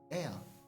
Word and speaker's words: Ea: Air, I believe, was the pronunciation used when referring to our people.